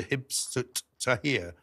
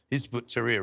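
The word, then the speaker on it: Hizb ut-Tahrir: did give advice to Hibstut Tahir, I think that's the right way to say it, Hizbut Tahrir, rather, who have now just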